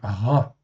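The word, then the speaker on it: רַע: Donc ici, ça se prononce donc ra.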